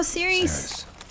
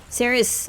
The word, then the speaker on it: Cerys: Oh, Cerys! Cerys.